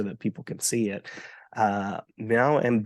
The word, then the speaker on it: Mèo: Mèo and Bay. How did I do with the You pronunciation?